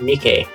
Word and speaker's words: Mike: Friend is revealed to be Mike, pronounced Mike, like the Japanese bobtail cat of the same name.